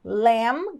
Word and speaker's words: lamb: olha só essa palavra lam quer dizer Cordeiro e esse B é mudo Então vai acabar no som do M aí fechando a boca